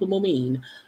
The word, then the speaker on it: Moomin: I think it's Moomin. Is how her name is pronounced, Moomin.